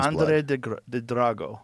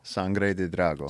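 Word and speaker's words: sangre de drago: Sanre drago. Sanre drago.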